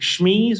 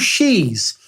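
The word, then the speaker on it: Sheese: is vegan cheese called is it schmeez or something like that i think it's cool it's called she's spelt with an s h double e s e i mean for [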